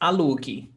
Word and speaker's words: alugue: Alugue. So like rent, you rent, like imperative. Linda, rent this house. Linda, alugue essa casa. It's like in order. Alugue essa casa, imperative. You don't pronounce the U.